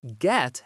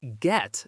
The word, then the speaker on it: get: For example, get has a hard T sound at the end. It is get, not ge.